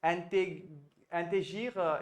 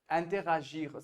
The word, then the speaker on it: interagir: One, I think you said intégir instead of saying interagir. Something I found was not rightly done.